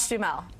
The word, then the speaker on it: Duhamel: yes exactly and then this week it's Josh Jal who is going to be a father as well is that how you say it say it again Josh Dell okay I've never known how to I know